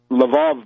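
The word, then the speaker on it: Lwów: this place called lvav now lvav is the Russian LV oov in Polish it's laav but l w o w in Ukrainian it's leiv lvv in German it's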